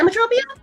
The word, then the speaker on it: Emmetropia: Emmetropia?